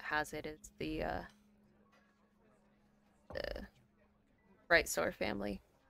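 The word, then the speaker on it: Brightsoar: it is the uh bright sore family how's it both right b-r-i-g-h-t sword like you're soaring through this guy s-o-a-r well um I can't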